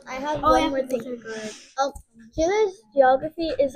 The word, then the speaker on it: Chile: Because I've been saying Chile. Well, how do you say it? Say it the right way. Chile.